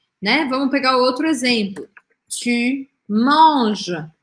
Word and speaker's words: tu manges: Tu manges, você come. E aí eu não pronuncio nem o e, nem o s.